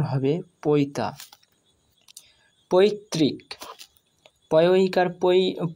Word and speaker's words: পৈতা: হস্যই যোগ হয়ে রি হয়েছে, সেই জন্য এর উচ্চারণ হবে তৈরি। পৈতা, পয় ঐকার পৈ, তয়ে আকার তা, পৈতা, অর্থাৎ